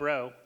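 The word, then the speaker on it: Rheault: another oyster farmer Bob row who I think you guys know right Skid Row is he identifies himself so you know how to pronounce his name but he had a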